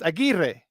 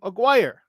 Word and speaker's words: Aguirre: people pronounced his name that's a Hispanic name or a Latin name it's Aguirre but it is non-spanish-speaking people would call call them Aguirre because he grew up